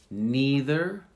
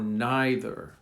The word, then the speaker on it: neither: They're pronounced two different ways, either or either, neither or neither. So you have two options. Either, neither, either, neither. Both are correct.